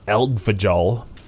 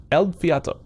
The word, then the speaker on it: Eldfjall: in case you're wondering how to how to pronounce uh it's not al fajal in case you're wondering because that's how it's spelled uh it's ed el fiat el fiato yep there's a t where do you find